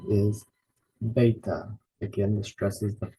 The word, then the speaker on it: beta: Alpha we put the stress in the first syllable Alpha the next letter is beta again this dress is the first syllable beta